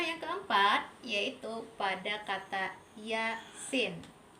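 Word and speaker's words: يس: Contoh yang keempat yaitu pada kata yasin. Ya-nya kita baca 2 harokat dan sin, ya, nun mati. Sin itu kita baca 6 harokat. Yasin. Sekali lagi 2 harokatnya huruf ya.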